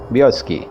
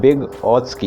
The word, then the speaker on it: Vygotsky: जैसे इस व्योत्स्की की स्पेलिंग है VYGOTSKY, व्योत्स्की, बोलते इसको व्योत्स्की हैं, और इसमें Y और G, देखिए G इसमें साइलेंट है, तो क्या बोलेंगे हम?